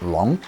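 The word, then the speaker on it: 龙: So, without further ado, number 6, the Chinese dragon, or Long. If there is one single mythical creature that is most associated with Chinese culture, it is the Chinese dragon, which is pronounced Long.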